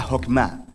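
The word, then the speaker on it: חכמה: hacemos que es esta fuerza en hebreo se pronuncia jopma y usualmente se traduce al español como sabiduría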